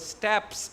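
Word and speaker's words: steppes: s t e p p e s the steps these grasslands in Europe and they came and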